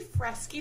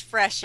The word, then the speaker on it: Freshy: Here with Fresky. Did I pronounce that right? It's Freshy. Ah, see, I didn't.